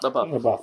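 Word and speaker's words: LaBeouf: With Shia Shia Labuff. Labuff. That is spelled so weird.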